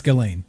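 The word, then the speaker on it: Ghislaine: really jizz no it's it's it's galen it's the s scientist galen maxwell is how you say yeah yeah apparently it's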